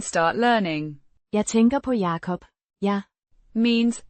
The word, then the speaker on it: Jacob: Pronounced Yah-kop. the A. as in father, the o as in go.